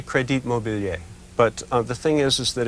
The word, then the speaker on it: Crédit Mobilier: You know, in the last 11 years of book notes, I've had Credit Mobilier pronounced Crédit Mobilier. Oh, yeah. Credit Mobilier. Yeah, right. What's right? What's right? Probably Crédit Mobilier.